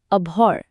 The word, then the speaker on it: abhor: International phonetic alphabet বা আইপিএ অনুযায়ী এর উচ্চারণটা হল আভর। একবার আমার সাথে চেষ্টা করে দেখুন তো। আ ভর। খেয়াল করবেন এখানে এইচ অক্ষরটা কিন্তু প্রায় সাইলেন্ট।